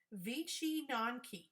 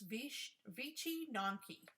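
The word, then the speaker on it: Wycinanki: It's called Vici Nonki. Vici Nonki is what it's called. And it's a very unusual looking word. That's it right there. And it's Vici Nonki. That's the way we pronounce it.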